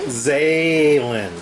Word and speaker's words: Zaylin: your name is jaylen zaylyn zaylin commonly pronounced as xylem not common at all uh she is a